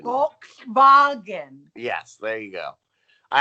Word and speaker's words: Volkswagen: There's more important things in life than a used Volkswagen. Volkswagen. Volkswagen. Yes, there you go. I actually confirmed with some car experts. That's how they say it in Germany.